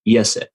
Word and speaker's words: Iese: Yeah, it's three vowels and one consonant. It's Iese, and it's pronounced Iese.